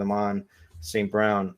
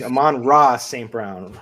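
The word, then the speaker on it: Amon-Ra St. Brown: Brown are that's that's did I say it right is that I think you might have forgotten a syllable in there somewhere yeah there that's what I think Aman raw St Brown there you go right there it is yeah uh anyway the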